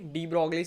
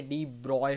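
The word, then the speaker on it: de Broglie: अब यहाँ से आए हमारे डी ब्रॉगली सर, जिनका असली नाम का pronunciation I guess डी ब्रॉगली नहीं है, डी ब्रॉय होता है, ये हमको इंजीनियरिंग में बताया था।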